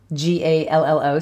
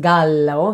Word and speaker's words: gallo: word for rooster gallo g-a-l-l-o so in italian it's pronounced gallo so two else is